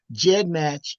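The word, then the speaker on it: GEDmatch: We want to talk about find a grade, Jed match.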